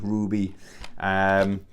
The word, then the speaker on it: RWBY: It's I always pronounce this wrong. It's RWBY, Ruby.